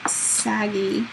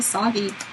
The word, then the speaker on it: saggy: As Ange McKay says, no saggy middles. And look, I said it right. I didn't say soggy.